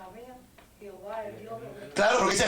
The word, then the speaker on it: Jehová: sabían que los judíos, cuando ponían el nombre sagrado, le colocaban el sonido de las vocales Adonai abajo, para que cuando la gente estuviera leyendo el nombre sagrado, no lo pronunciara, sino que dijera Adonai. Los que no sabían, como vieron las vocales abajo, pues dijeron H-O, de Adó, O de Adonai, Jehová, a Jehová.